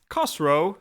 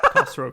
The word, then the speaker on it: Khosrow: But first of all, a caveat on pronunciation. Kosro sounds rude in Persian. I know. I'm sorry. It's not a sound my mouth can make properly, but if poopyus can exist for the Romans, Cosro can exist for us as well. Exactly. I feel like it's similar to the Arabic pronunciation.